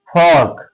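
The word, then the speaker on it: folk: फोग।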